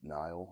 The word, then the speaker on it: Nihil: I think it's pronounced Nile like Annihilation is where that's taken from I believe they are